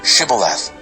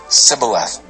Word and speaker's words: Shibboleth: and they would say say Shibboleth but he would always say Sybil F he couldn't say it right then they would grab